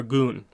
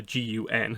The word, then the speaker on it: Gun: a companion of Avatar goon that's a g-u-n so Avatar gun but it's pronounced goon and skilled poet and